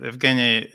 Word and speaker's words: Evgeny: How do I pronounce the name again? Please remind me how to properly you do it right. Evgeny is right. Evgeny.